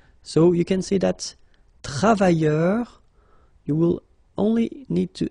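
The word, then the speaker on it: travailleurs: Okay, so you can see that travailleur, you will only need to add this final S here. So phonetically it's the same, travailleur, singular form without the S, and then travailleur, plural form with the S, it's the same.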